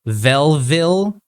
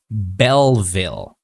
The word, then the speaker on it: Belleville: Okay, so in this situation, you said Belleville. Okay, it should be Belleville. So when we produce the B sound, our lips need to touch.